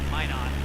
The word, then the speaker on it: Minot: This is the big city of Minot, as corrected by Sam, so thank you for that pronunciation correction.